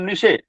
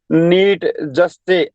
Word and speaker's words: Nietzsche: निशे, इसको हम निट जैसे नहीं कहेंगे, बोलने में क्या आता है ये निशे, स्पेलिंग तो काफी टेढ़ी है इसकी, NIETZSCHE, नीट, नीट जस्ते, अगर ऐसे बोलोगे आप, अगर स्पेलिंग के हिसाब से तो ऐसे बोला जाएगा, लेकिन इसकी जो रियल प्रोनाउंसिएशन है, जो हमें स्पीच साउंड से माध्यम से जानने को मिलती है बच्चों, वो ये है निशे।